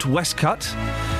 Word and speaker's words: waistcoat: We've gone from we've learnt that you pronounce waistcoat Westcut.